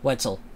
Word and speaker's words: Wetzel: Wetzel? Wetzel. It rhymes with pretzel.